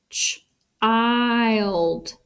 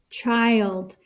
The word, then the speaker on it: child: Let's see what sound it makes. Child. Child. That makes the long I sound. He says his name, which means that it's a closed syllable exception.